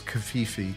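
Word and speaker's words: covfefe: The AP came out and said it's Kavifi.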